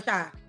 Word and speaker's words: Rasha: I keep having Rashad. Like Tasha, you can say Tasha but with an R, like Rasha.